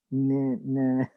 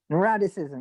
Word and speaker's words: neuroticism: Neuroticism. Neuroticism, yeah, that one. Yeah. Yeah, it rhymes with eroticism.